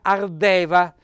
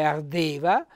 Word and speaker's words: ardeva: aperto che ardeva ecco vedete nella forma sbagliata c'era ardeva con la è aperta invece ardeva con la colla è chiusa sul fogolar chiaramente senza